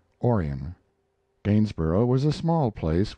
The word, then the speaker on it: Orion: a boy was born they named him orion after the constellation perhaps though they changed the accent to the first syllable calling it orion gainesboro was a small